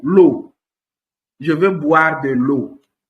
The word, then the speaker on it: eau: So, whenever you see E-A-U in a word, okay, you have to pronounce that particular combination as O. Example is O. O. E-A-U, the O. Water in French is O. L'eau.